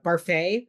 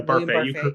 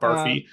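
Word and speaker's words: Barfée: Like Olive and Barfay there. Yeah, Barfay. You pronounced it correctly.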